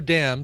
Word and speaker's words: damn: Example of a word though that, like, I know damn, D-A-M-N, right? Autumn, but is there another one where there's a vowel after it? Like I guess you say damnation, but you pronounce the N.